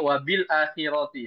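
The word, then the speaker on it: الآخرة: Contohnya wabil akhirati ya. Wabil akhirah. Ya bacanya wabila ya. Wabila khira. Ro-nya juga ditarkik. Wabila khira. Ra bacanya bukan ro.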